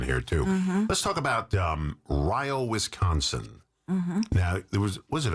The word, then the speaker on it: Rio: And it's not pronounced Rio, like Rio de Yeah, Janeiro. you would think so. It's Ryo. Ryo.